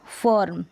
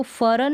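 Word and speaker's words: fern: अब इसको फरन नहीं बोलेंगे, फर्न। तो आर का यहाँ पर मिडल में आपको नज़र आएगा, आधे र के रूप में साउंड आपको सुनाई देगा, इसका जो उच्चारण होगा ये है।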